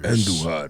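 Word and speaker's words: Andújar: Andujar, roll your R's when you say Andujar.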